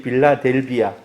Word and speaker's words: 빌라델비아: 바로 이 이름하고 똑같습니다 세계 발음하면 필라델피아가 되고 이 성경에 기록된 이름이 빌라델비아 빌라 드 롬 혹시 도시의